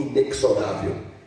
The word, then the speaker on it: inexorável: Ele pronunciou inexorável. E a pronúncia certa é inexorável.